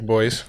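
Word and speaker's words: Boiz: So Magic Boys. the Magic Boys. It's spelled B-O-I-Z.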